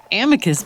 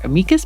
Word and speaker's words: amicus: Amicus briefs, or amicus briefs. It's Latin, and I hear lawyers pronounce it both ways. If you know the correct pronunciation, please just share it with me.